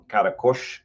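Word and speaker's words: Qaraqosh: Marilyn, 24-year-old from Karakush, is how they pronounce that city's name.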